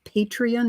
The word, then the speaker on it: Patreon: artists that one that comes to mind is patreon is that how you say it yeah are